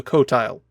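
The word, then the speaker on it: Qotile: Before the weapon was finished, they were attacked by their enemy, the Kotile. That's spelled with a Q at the front. The cotile destroyed the middle planet of their solar system and the Yars vowed revenge.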